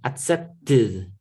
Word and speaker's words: accepted: Los que el último sonido sea el de t o el sonido de la d, como accept, add, afford, afford. Es el sonido de la d, afford, accept, el sonido de la t. Estos son del grupo 3. Accept, accepted. Add, added. Afford, afforded. Son los únicos que vamos a pronunciar así.